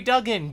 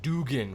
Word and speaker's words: Duggan: using the word Duggan people have fought me forever on the pronunciation of Duggan some people have said Dugan for the longest time no really I've gotten into so many fights and I'm glad I'm right now I'm gonna hold